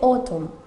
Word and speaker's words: autumn: ejemplo como en otoño, que se dice autumn, pero no pronunciamos la N.